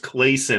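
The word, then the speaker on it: Clason: I think it's pronounced Clayson, although I could be wrong.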